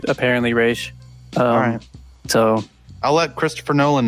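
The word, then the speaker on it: Ra's: that's fun and so yeah there's actually a pronunciation for it and it's apparently race so i'll let christopher nolan know yeah let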